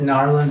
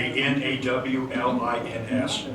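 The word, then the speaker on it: New Orleans: Is that Narlands as in gnarly? It's supposed to be Nawlins, knowledge. If you're from there, that's how you say it.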